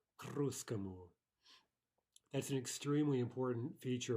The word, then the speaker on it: к русскому: We can imagine writing this phrase k русскому as a single word. That's really the way we're going to be pronouncing it. And we would say к русскому, к русскому.